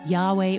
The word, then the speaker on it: Yahweh: yhwh god's personal name often pronounced yahweh or jehovah abraham is a pretty